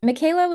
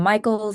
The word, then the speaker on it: Michaela: I was 6 years old, and Michaela was just not doing it for me. A lot of people kept mispronouncing it. I got a lot of Michaels, a lot of Michelas, a lot of Michela,